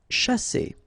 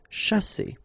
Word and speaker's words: chasser: Okay, so remember that when you put this C and H together, you get the sound sh, sha, and then here you've got a double S between the two vowels, so the S is really strong.